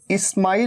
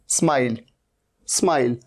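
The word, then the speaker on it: smile: स्माइल, स्टाइल, जैसे ये देखिए, इसे इस्माइल नहीं कहना है, इस्माइल। ये इस्माइल नहीं है, ये क्या है, स्माइल।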